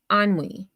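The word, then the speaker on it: ennui: So it's pronounced or ani anwi. So anwi is a feeling of listlessness and disatis dissatisfaction arising from a lack of occupation or excitement. Example, he succumbed to onway and despair.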